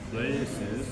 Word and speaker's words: places: Favorite P-nya letupin ya, agak ada pop sound ya. Places gitu. places.